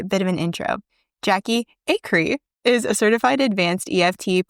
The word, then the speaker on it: Acree: It's Acree, but it's such a harsh sound. Everybody literally says Acree, and I really should just change it because I think it does sound better.